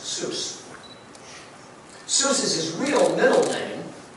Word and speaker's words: Seuss: Seuss so first off his name should be pronounced Seuss so this is real Middleton is Germanic dirty rapp dirty it's from Germany as probably pronounced voiced by boss now he obviously got over the